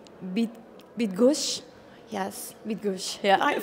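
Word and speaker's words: Bydgoszcz: is quite complicated for foreigners can you please pronounce for us actually I guess it's a bit bit gush yes with goose yeah I finally I learned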